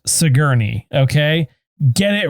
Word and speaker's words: Sigourney: who plays a character named brandon uh it's pronounced sigourney okay get it right and it was long's